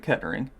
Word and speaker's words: Kettering: We do split gate receipts in the FA Cup, so probably Kettering. I don't know if that's actually how you pronounce Ketter. Is it Kettering or is it Kettering?